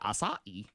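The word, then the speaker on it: açaí: No, it's acai. Because it's got that little, Little accent, the like- little boon flipple on the bottom of it, where it looks like it's yeah.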